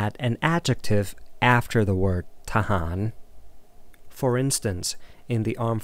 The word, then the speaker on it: ทหาร: no specification, you can just say the word tahan, which should be enough for people to understand what you mean. Okay, let's try to pronounce tahan together. Tahan. Tahan. Thahan.